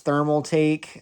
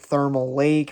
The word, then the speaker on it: Thermaltake: was new and i didn't know how to pronounce thermaltake i pronounced it thermal lake for whatever reason so just ignore that please